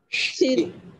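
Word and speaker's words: ش: Donc, elle ne se prononce pas si, c'est bien essayé quand même. On va demander de l'aide aux autres, ils vont nous montrer. Si. Chi. Voilà, chi, comme la Chine, quoi.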